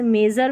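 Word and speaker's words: measure: एक जर भी लिख लें। जैसे मेजर में जर पढ़ रहे हैं। प्लेजर में जर पढ़ रहे हैं और प्रेशर में शर पढ़ रहे हैं। तो दो उच्चारण हैं इसके एस यू आर ई के।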